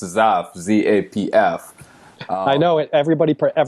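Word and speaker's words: Zapf: I was stumbling your last name, but it's Zaff, Z-A-P-F. I know it. Everybody has trouble pronouncing it, so you're like in the majority. Yeah, okay. It's pronounced just like Z-A-F-F, even though it's pronounced Z-A-P-F.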